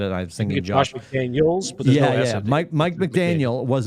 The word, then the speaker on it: McDaniel: Did you see the meme that McDaniels? I said McDaniels. I got his name wrong. Help me, Miami coach. It's McDaniel. Is it McDaniel? Isn't it Mike McDaniel? It's Mike McDaniel.